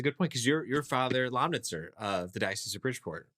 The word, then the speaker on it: Lomnitzer: The Father Lomnitzer, it's not as hard to say as many people think it is. It's 3 syllables. You say all the letters pronounced. It's German. It's very precise.